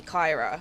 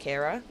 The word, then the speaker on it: Kyra: my whole life with people calling me Kyra, which is understandable because that is literally how my name is spelt, but it's obviously pronounced Kira, so I'm always shocked when people get it right first time.